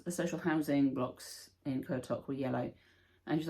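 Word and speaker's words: Qaqortoq: We went on a walking tour in Kotok, and the tour guide told us how to pronounce it. So yeah, Kotok, not how it looks at all.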